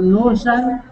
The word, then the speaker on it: nusan: Pero Nusan está en la U.